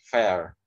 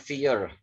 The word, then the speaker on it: fair: Ini itu fair ya, fair, bukan fear.